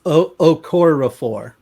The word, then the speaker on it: Okorafor: So, and it's Okorafor.